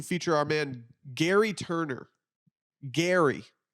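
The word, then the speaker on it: Gerry: Gary. Spelled like Jerry, though, with a G. I had to do my research to figure out how this was pronounced. It is pronounced Gary.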